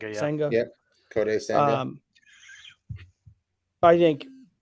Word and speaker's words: Senga: Senga.